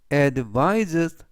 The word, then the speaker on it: advises: 되겠습니다 그리고 뒷부분에 있는는 이번 단어에서 스가 아니라 즈 품사는 동사 뜻은 조하다 충고하다 또는 권하다라는 뜻이 되겠고요 문장 보시겠습니다 he 그는 advises 권했다 me 나에게 on